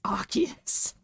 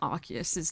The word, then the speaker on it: Arceus: You know Arceus's name was originally Arceus, but they changed it because it sounds like arse. It's still spelt the same, they just altered the pronunciation to be more appropriate.